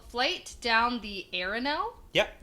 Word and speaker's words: Arinelle: So it's called Flight Down the Arinelle. Yep. Right? That's how you pronounce it?